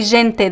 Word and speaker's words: gente: syllables like the word the first e is distressed it's a nasaling sound so Jane Jane the last e is unstressed so it's reduced to e the natural pronunciation Portuguese would be e so you could say Gente these vowel reductions they